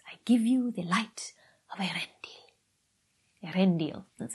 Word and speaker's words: Earendel: irene floral baggins i give you the light erendil that's how you pronounce it i'm gonna be with you everywhere